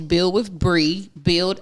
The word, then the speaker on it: Bri: Hey guys, my name is Bree.